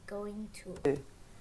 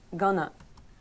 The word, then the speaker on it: going to: In spoken English, we usually don't say going to. But we pronounce it as gonna.